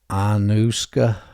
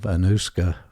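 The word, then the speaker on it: Anoushka: was uh known as see if I can pronounce this right anusa a n o u s hka and that was because uh Ravi sakar the Indian musician's Daughter by the name of anusa signed uh the body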